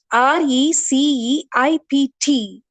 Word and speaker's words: receipt: for this particular word be a silent there so you have to pronounce it as receipt why don't you take